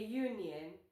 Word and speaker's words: union: If the word starts with a consonant sound, use a union. Yes, U is a vowel letter, but it sounds like yo, which is a consonant sound.